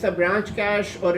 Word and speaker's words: cache: so cash now so this word is pronounced as cash so whenever you're in